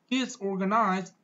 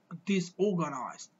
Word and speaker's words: disorganized: Well, we can pronounce that word in the way of British people, and that's gonna be a little bit different. Well, it's gonna be disorganized. But if you want to sound like an American one, you have to pronounce the word like disorganized, while stressing the sound r, disorganized.